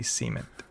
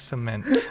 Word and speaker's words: cement: He would say cement. I was like, no, it's cement.